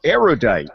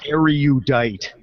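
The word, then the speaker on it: erudite: surprising number of aidite people mispronounce aerod which has three syllables not four say aerod not audite because you are judged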